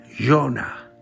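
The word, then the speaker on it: יונה: Jonás, Jonah en hebreo, que significa paloma. Se escribe Yod, Vav, Nun, Hei.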